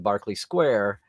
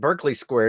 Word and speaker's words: Berkeley Square: in Nightingale saying in Barkley Square and I called it Berkeley Square until I heard someone sing it but they're using the British pronunciation yeah yeah yeah yeah